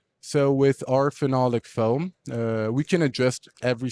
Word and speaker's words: phenolic: Now, is every product out of both so there is the so it's phenolic, right?